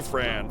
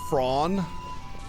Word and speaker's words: Fran: What the hell's wrong with you, Fran? Fran! Oh my god, what are you doing, Fran? Actually, the actual way to pronounce the name is Fraun, as clearly outlined in the game. It's Fraun.